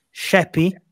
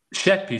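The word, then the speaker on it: Sheppey: Andrew Per favore Anzi corregi Qual è la pronuncia esatta sheppy sheppy Sì è perché per me fino a due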